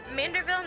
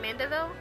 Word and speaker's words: Manderville: Isn't it Manderville, not Mandeville?